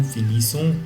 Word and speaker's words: finissons: But, you have to pronounce it with nous. Nous finissons and vous finissez.